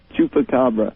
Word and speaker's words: chupacabra: Chupacabra.